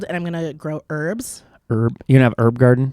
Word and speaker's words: Herb: herbs herbs but then when you get to a person named herb we make sure that we pronounce the h yeah because it's weird